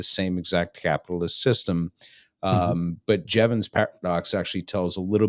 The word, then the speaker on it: Jevons: want to butcher the name, but is it Jevons paradox? Is that how you pronounce it? Yeah, Jevons.